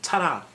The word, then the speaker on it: ta-ra: Yeah, like ta-da, But no, it's ta-ra.